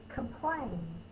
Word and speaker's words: complain: mean to complain oh that's the up sound sounds like a short you that's actually the oh it's the schwa sound that's making that and still it over here schwa upside down e it represents the short you send the schwa cannot be represented by any vows and an unaccented syllable come is the accident civil claim is the stressed syllable come play you can